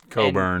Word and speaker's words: Cockburn: about Kofi Cockburn and the guy I can't pronounce his name. Coburn.